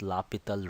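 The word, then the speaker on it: L'Hôpital: Though you can see it is written L hospital rules, but it is pronounced as L'Hopital rule.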